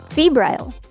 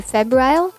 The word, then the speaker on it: febrile: Febrile. Having or showing the symptoms of a fever. The pronunciation could be febrile or febrile.